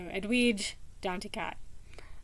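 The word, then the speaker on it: Edwidge Danticat: of hers and uh the way I used to pronounce her name was really not the way um the audiobook readers pronounce her name and they seem to be consistent so edu D to cat um anyway um the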